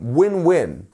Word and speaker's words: win-win: next we have um winwin win-win and here we have the stress on both words because there are two words so it's winwin it's